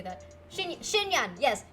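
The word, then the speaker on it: Xinyan: Shin Shinyan. Yes, Shinyan. They're they're the only two girls that start with X and they both have N's and they have that she pronunciation.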